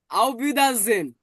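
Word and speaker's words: Auf Wiedersehen: বর্গজ আর ইটাকে আমরা পড়ছি এ যে হেন আওবিদাজেন আওবিদা জেন মানে কি সুন ক্লিয়ার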